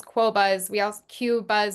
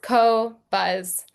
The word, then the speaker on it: Qobuz: everyone's fully clear uh how you pronounce cobbuzz because it's a weird name. I understand a we get so many different things. We get coz is is one we hear a lot. Um but it's co-buzz just to clear up any confusion.